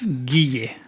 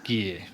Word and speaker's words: Guille: Guille. Guille.